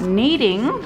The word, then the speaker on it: kneading: at the end spot kneading when you're gonna need your play-doh that actually starts with K it's a silent K isn't that interesting what's